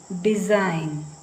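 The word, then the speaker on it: design: ಎರಡು ಕಡೆ ವಲ್ ವಾಯ್ಸ್ ನಂತರ ಇದುಡಿಇಎಸ್ ಐಜಿಎನ್ ಜಿಎನ್ ಡಿಸೈನ್ ಡಿಸೈನ್ Jain ಡಿಸೈನ್ ಅಂತದು ಡಿಸೈನ್ ಹಾಗೆ ಇದು ಸಿಓ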